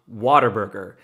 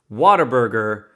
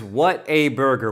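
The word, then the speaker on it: Whataburger: in America it's pronounced waterburger the the the proper name is what a burger what a burger but the colloquial name around these parts is Water Burger I know it sounds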